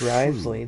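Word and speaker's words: Wriothesley: the Fortress Risley he's a very oh it's Risley that's how you say his name yeah we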